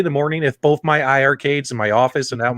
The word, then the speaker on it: iiRcade: ii arcade together or the eye arcade is i've learned to say it correctly tonight i mean everything